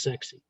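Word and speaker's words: CEXC: combined explosives exploitation cell c-e-x-c pronounced sexy that's it sounds like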